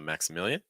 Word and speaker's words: Maximilian: Notice how weak the consonants are. It's like Maxa, and then million, million. We make that into 2 syllables. So instead of million, it's just million, million, Maximilian, Maximilian. And the next one would be Elias.